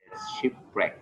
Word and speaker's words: shipwreck: is apologies she looked shipwreck no W of that is okay sheep red sheep record when you have w+ are don't pronounce w say shipwreck okay okay thank you